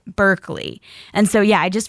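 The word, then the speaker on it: Barclay: L E Y, and they spell it B A R C L A Y, and they still pronounce it Berkeley.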